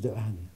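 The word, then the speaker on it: Dehaene: On prononce de Hahn.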